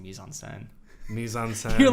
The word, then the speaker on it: mise en scène: Speed and I gotta shout you out for just like drastically mispronouncing mise en scène. Mise en scène. You're like mise en scene.